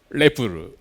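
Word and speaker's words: REPL: r in English uh in Japanese we pronounce it lepple uh but in this talk I call it lipple uh first using the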